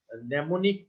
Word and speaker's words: mnemonic: code the first m the first m is silent just about code so